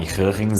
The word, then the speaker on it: Huygens: E só uma nota, eu já falei o nome Hurrens algumas outras huygens em alguns outros vídeos desse capítulo e provavelmente vocês estão me xingando mentalmente ou nos comentários, mas essa é a pronúncia certa.